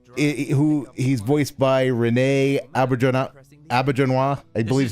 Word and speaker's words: Auberjonois: is a shapeshifter, who he's voiced by Renee Auberjonois, I believe is how it's pronounced.